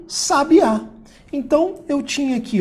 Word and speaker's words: sabiá: a minha sílaba tónica sabia agora se eu trocar a minha sílaba tônica de um lugar que botar o acento eu voltei aqui ó um sabiá então eu tinha aqui